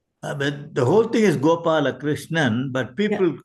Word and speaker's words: Gopalakrishnan: how do you pronounce it how do you pronounce your your wife's name the whole thing is gopala chrishan but people call me by the first five